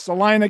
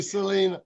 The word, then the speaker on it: Salina: It's Salina, Kansas. And yeah, they say Selena.